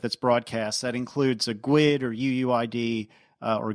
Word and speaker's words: GUID: broadcast that includes a GID or uuid or guid depending on how you want to pronounce it did you say GID like squid that's awesome that's how I've always pronounced it I don't know anyway